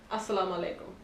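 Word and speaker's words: السلام عليكم: Assalamu alaikum.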